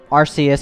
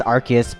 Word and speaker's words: Arceus: and legend arceus and before any of you guys call me out for pronouncing rc is wrong let's head on over to bulbapedia real quick see this in katakana it says yeah yeah that's right that's freaking right no but seriously arceus